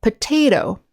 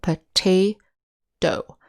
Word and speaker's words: potato: voiced sound native scatter it's more like the d sound so let's practice how